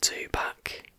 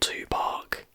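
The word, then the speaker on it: Tupac: at the fact that i was pronouncing it too back and not to park and then i pronounced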